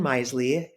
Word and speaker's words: Misley: And her name is Katherine Misley, rhymes with Wisely, and she's a very accomplished performer.